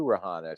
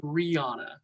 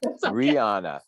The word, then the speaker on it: Rehanna: the kimmel center good afternoon how are you rohana so nice to meet you i'm good it's actually pronounced rihanna you know one of the things i'm supposed to ask before i start this but rihanna yes thank you i apologize absolutely okay so